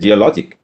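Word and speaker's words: geologic: സി, ഇറ്റ്സ് നോട്ട് ജിയോളജിക്, ഇത് ജിയോളജിക്. ജിയോളജി എന്നാണ് വാക്ക്.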